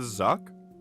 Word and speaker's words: Zuck: Oh, you're pronouncing Zook like zucchini? I knew that's what you were referencing. But have you never heard me talk about... Have I never talked about the Zuck?